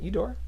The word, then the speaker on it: Eudora: Eudora. Good job. You know how to pronounce things.